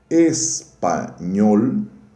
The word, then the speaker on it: espanhol: Se eu digo espanhol, a sílaba tônica está na última. Espanhol.